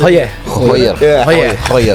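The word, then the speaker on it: Gooijer: Goyer. Hah tadi itu hoyer. Ada kumurnya dikit gitu ya.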